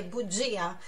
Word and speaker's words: bugia: Bugia, mentira, olha a explosão aí nesse G, bugia.